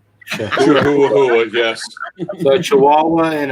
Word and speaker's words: Chihuahua: and I can't get mad at him because that's how it's spelled. It's a Chihuahua. Chihuahua, yes.